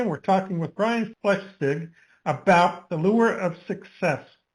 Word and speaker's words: Flechsig: And if you just say flesh, like the flesh of your skin, and ig, Flechsig. Flechsig.